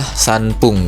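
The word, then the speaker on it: さんぷん: Nah, cuma dia nanti setelah sanya untuk menyebutkan menitnya dia memakai pung ya. Makanya dia termasuk dalam kata istimewa ya. Jadi 3 menit itu bahasa Jepangnya adalah sanpung gitu.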